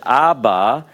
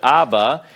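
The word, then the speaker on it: אבא: vowel, which it is, you have A, and then you have the bait with the Dagesh, Ba. It indicates a doubling, if you will, of this particular consonant.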